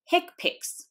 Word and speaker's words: HCPCS: and lastly We Have Hips so that HC C PCS is actually pronounced as an acronym hicp and that stands for